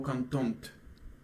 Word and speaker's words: contente: So because we are men, we would pronounce it like j'étais vraiment content. Okay, so content. Pay attention to this ending. But whenever we put e, we would pronounce it like j'étais vraiment contente. Okay.